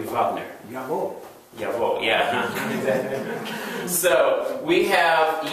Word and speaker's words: Wagner: think maybe Germans too, pronounce the W as a V. Like Wagner would be Wagner.